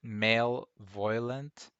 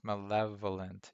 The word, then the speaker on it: malevolent: do you pronounce that i always pronounce it male violent but it's not it's malevolent yeah malevolent and there's